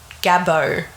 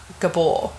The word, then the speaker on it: Gabor: Gabbo, not Gabor. Gabor? Gabor. You really Aussified it, didn't you?